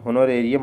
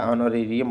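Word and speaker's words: honorarium: हुनरेरियम बोलते हैं या ऑनरेरियम बोलते हैं क्योंकि होनर को ऑनर बोलते हैं। ठीक है? एच साइलेंट हो जाता है।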